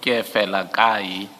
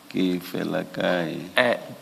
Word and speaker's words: Kefelakai: So you don't enunciate the second E. Can you please pronounce the surname? The surname is pronounced as follows: Kefelakai. Kefelakai.